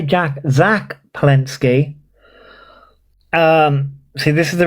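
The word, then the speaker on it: Zack Polanski: Um, Jack Palinski, I hope I'm pronouncing his name correctly. Zack, not Jack. Why did I say Jack? Zack Palinski.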